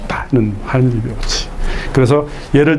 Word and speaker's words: Heinrich: 하인리히, 독일어죠. 리히. 이 독일어는 CH를 이렇게 발음해요. 하인리히.